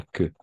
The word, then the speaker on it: queue: Así, con la S -E, E fermée. La queue.